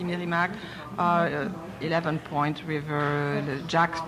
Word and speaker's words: Meramec: Plus lesquelles, petites par exemple, qu'on est Voyons, la Meramec, qui s'écrit Meramec, mais qu'on prononce ici Meramec.